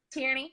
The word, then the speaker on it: Tierney: Tierney, yep.